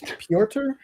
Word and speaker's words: Piotr: to say Peter, but it's spelled like Pytr. Oytr or something, but Kind I of like called him the artist Peter. on Where Monsters Lie that I can never say his name. Yes. Yeah. What's his name again? It's Piotr. Piotr.